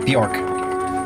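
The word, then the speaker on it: Björk: was thinking of uh bjork but the bee is silent so it's just like york or something like that um where is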